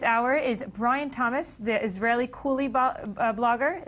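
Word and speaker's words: Israellycool: With me for this hour is Brian Thomas, the Israeli Coolie blogger. Israeli Coolie, am I pronouncing that right?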